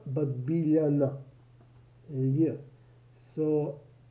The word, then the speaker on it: Biljana: billionaire george sorry georgievich julie so she's not bill jenner but billionaire yeah so l and j is pronounced as le i don't think that there